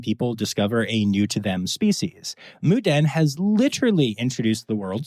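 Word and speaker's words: Moo Deng: I'm talking, of course, about Muden, which is spelled Mudang, and a lot of people say wrong, and Pesto the penguin.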